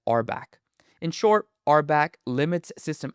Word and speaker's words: RBAC: This entire approach of defining permissions via roles is known as rolebased access control abbreviated RBAC and pronounced as arbback.